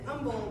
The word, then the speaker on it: Humble: like it should be pronounced Humble, but we pronounce it Humble because Texans don't pronounce any of our place names correctly.